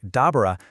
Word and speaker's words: دبر: The first one, which is pronounced something like dabber, stands for the action, and the second bara is the result.